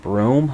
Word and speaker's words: Broome: It's like broom with an E at the end. Broome?